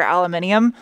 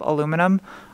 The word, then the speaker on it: aluminium: of a lot thicker aluminium as well i know that irks some people i say aluminium instead of aluminum i just think it sounds fancy okay that's why i say it like that sorry three o'clock and